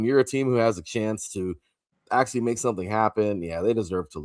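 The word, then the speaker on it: Achane: Aan, I always want to call him McCain, but Achan got it done, man.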